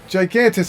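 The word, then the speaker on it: Gigantes: crystals you with me I think it's I think they pronounce it yantes yantes ah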